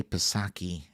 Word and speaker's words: Psaki: It's such a relief watching Jen, I want to say Psaki, and I know somebody's going to be like, the P is silent.